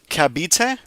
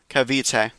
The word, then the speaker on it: Cavite: Kabite, is it not a V?